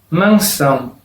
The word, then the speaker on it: mansão: Por ejemplo, la palabra mansão. Una palabra que no tiene más que una tilde, solo la virgulilla sobre la vocal A. Entonces es allá en aquella sílaba que estará la sílaba tónica.